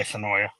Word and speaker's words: Sonoya: So yeah, when I did a live from Sonoya, or Sonoy is the correct way to say it, I guess. I say Sonoya. Oh well.